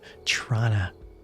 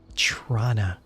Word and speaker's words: Toronto: this conversation with others, it's not pronounced Toronto. If you look in the top left corner, you can see that it's Toronto, and that's very close to how Torontonians pronounce the city. Although my mother grew up in Toronto and pronounced it Trana.